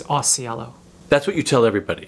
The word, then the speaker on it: Ausiello: there like a cultural actually the way my mom pronounced as it is Ausiello okay so that's what